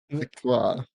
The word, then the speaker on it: Victoire: I got Yeah, a French pronunciation of Victoria. Victor. You're actually pretty close. Wow. Victoire.